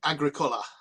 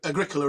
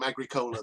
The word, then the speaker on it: Agricola: in in Latin it would it would be Agricola um so it's that's a Agricola is probably the closest angli sized version um you'd be surprised how many people call him agric Cola though uh a friend of mine in York